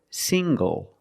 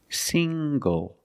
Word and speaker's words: single: good also this word single single the NG makes the nasal um sound plus the hard G sing go single I'm not single I'm